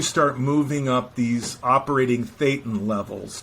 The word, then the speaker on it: thetan: moving up these operating thetan levels t-h-e-t-a-n fate and levels so it rhymes with Satan level yes it does but